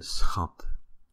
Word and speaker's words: schat: So ch, the ch is pronounced the same, ch, and you put an s in front of it, it's just sch, sch.